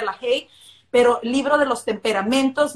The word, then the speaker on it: LaHaye: Se escribe en español con H, LaHaye, o se pronuncia LaHaye, pero libro de los temperamentos de Tim LaHaye.